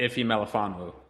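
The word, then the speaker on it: Ifeatu Melifonwu: Branch, and I'm going to butcher his name, Afetu Malafanu. Say it for me, please, because if you can say it better, I'll appreciate that. I actually don't know how to say his first name, but Ife Malafanu.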